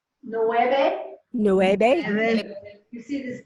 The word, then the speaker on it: nueve: Okay, so nueve, let's try it. Nueve. Nueve. Yes. And it's not always a clear B, like nueve. It's kind of swallow the B.